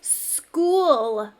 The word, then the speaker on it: school: It says school. What do you think? Snap or trap? What makes you think it's a trap word? You've got it. We hear sk at the beginning, but we have ch.